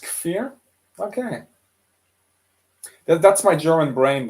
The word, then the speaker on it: Kfir: Oh, is it pronounced Kfir?